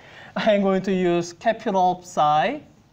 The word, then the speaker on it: Psi: going to use capital Psi. Everyone here has seen the Greek letter Psi, or P-S-I. That's why I have that weird sound at the beginning, Psi.